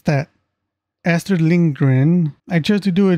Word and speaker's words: Lindgren: Lindgren, is that how you pronounce it? Hold on. Astrid Lindgren. There, it's that. Astrid Lindgren.